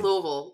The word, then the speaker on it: Louisville: Oberlin Yeoman yes yes that's weird it's like Louisville Louisville's not as many syllables as you think yeah Westfield we have